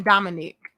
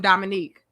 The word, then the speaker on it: Dominic: And Dominic said that's how you say his name, Dominic. So stop calling him Dominique. Man, I just knew a lot of Dominique. His name is Dominic. It will be Nique. It's not that, my love.